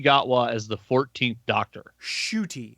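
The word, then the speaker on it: Ncuti: as the 14th doctor shooty is how they describe it from the pronouncing pronouncement i saw shooty close enough s-h-o-o-t-i is the pronunciation guide for it s-h-o-o-t-i shooty okay so i did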